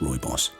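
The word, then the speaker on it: Rooibos: the south african tea i can never remember how to pronounce okay i looked it up it's roy boss i'll forget that again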